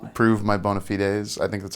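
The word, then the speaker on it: bona fides: Prove my bonafides. I think that's how you pronounce it. Bonafide. Bonafidees. I like saying bonafides to be silly. Bonafid kind of like a bone to pick.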